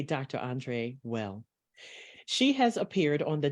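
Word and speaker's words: Weil: I know it's pronounced different for some, they say Ville, but we will say Dr. Andre Well.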